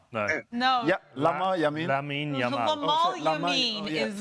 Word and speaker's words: Lamine Yamal: It's Lamine Yamal. You keep saying Yamin Lamal.